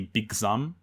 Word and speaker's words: Big Zam: mean well if it's if you're saying it in Japanese it' be big zom so it would be Z fine they're saying it correctly but I'm going to call it Big Zam yeah it it's large